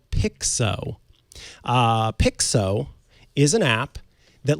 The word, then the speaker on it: Picsew: So the app that I'm talking about this week, it's called Picsew. Picsew is an app that lets you stitch together screenshots. Oh, it's SEW. Yes. I thought it was PIXO. It's PIC SEW. SEW.